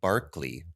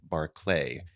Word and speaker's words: Berkeley: California though I've read it's supposed to be pronounced Barkley like the name of the former NBA player only for some odd